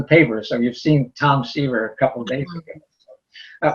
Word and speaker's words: Seaver: won't remember who was siever that was it rhymes with fever which is why i